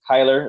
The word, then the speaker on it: Cyler: My name is Cyler. It looks like a C, but pronounced K, basically.